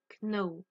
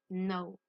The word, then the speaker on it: know: Alors, très important pour ce verbe-là, le K est une lettre muette. D'accord? On ne prononce pas le K. On ne dit pas know. On dit no.